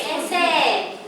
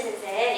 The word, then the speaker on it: sensei: Karena E ketemu I, jadi I-nya nggak dibaca sensei ya.